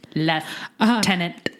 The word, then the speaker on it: lieutenant: print out the word as though there is an F in it as in leftenant further response nomads from